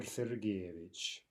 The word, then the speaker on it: Sergeyevich: would address him as Alexander siddig image Alexander Sergeyevich now often by the way these patronymics since